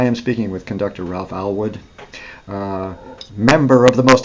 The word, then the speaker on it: Allwood: Oh, yeah, Oh, Allwood it is. Allwood, yes. Allwood. Oh, yes, I must remember my pronunciations.